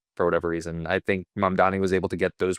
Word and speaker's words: Mamdani: Mambani? The election. Mamdani. Yeah, no one can pronounce his name.